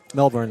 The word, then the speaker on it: Melbourne: But I gotta know it is Melbourne, all right? Melbourne. Yeah. Just Melbourne. Yeah, just so you know, I want to make sure that you are pronouncing that name of that city correctly.